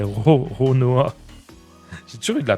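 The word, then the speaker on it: Roronoa: Je fais chaque fois de la dyslexie, je dis toujours Rono... c'est Ronoa.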